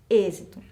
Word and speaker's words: êxito: assento é o circunflexo ele é usado para indicar que a vogal tônica da palavra deve ser pronunciada de maneira mais fechada então ao contrário do